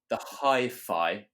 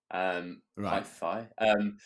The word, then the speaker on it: HiPhi: So it's called the Hi-Fi X, but it's spelled Hiphi. Hi-Fi.